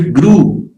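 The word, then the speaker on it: grew: ठीक है, ग्रीव ग्रीव ही ज्यादातर वैसे पढ़ाते रहते हैं ना स्कूल्स में भी, तो वो ग्रीव जो है वो गलत है. ग्रू जो है वो करेक्ट प्रोनाउंसिएशन है.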